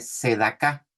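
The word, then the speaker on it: צדקה: Justicia en hebreo se dice sedaká, con TS al principio, sedaká, y con K, y acento en la A, sedaká.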